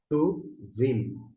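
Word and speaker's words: טובים: A raiz com o restante, a gente vai pronunciar tovim, tovim, tovim, bons.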